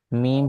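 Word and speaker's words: م: সঙ্গে লাগে এটা জিম মিম হরফটা ঠোঁট হইতে উচ্চারিত হয় জিহ্বার কোন কাজ নাই ওয়াও বা মিম এই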